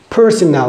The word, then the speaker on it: personnel: living in somewhere case personnel for example uh personal management personal department okay not personal department but personnel department be careful about the pronunciation and using of these two words personal they have